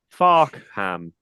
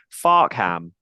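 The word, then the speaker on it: Fareham: try and say this out loud is faram far ham EXC F ham I'm deliberately trying to not say how it is pronounced so that we don't suddenly get bleeped out or become an explicit podcast farham it is farham um fantastic my kind of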